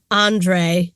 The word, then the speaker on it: Andrzej: designer Andrzej Nekvasil, who I will say both. I think it's Andre. Andre. That's how they were pronouncing it.